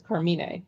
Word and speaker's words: Carmine: The correct pronunciation is Carmine.